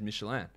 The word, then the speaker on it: Michelin: Like, Michelin is not an American company. It's a French company. That is why I said it as Michelin.